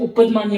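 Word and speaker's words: उपध्मानीय: ये जो साइन होता है इसे हम उपदमान्य बोलते हैं। ठीक है? उपदमान्य फ उपदमान्य फर् फ कहां से उच्चारण करते हैं? कहां से उच्चारण होता है? लिप्स से। ओष्ठ से। ओष्ठ। ओष्ठ मीन्स लिप्स।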